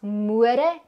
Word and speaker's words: môre: gesien dat 'n mens môre en môre kan skryf? Môre. Môre. Wat hoor jy in môre? Stel die letter O 'n lang oë klank voor, net soos in bome.